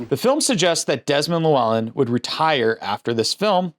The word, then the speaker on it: Llewelyn: this podcast I I luin or something I don't know I don't remember what I said I said something you're like that's not how you say his name it's Desmond lellan get it right Desmond lellan who we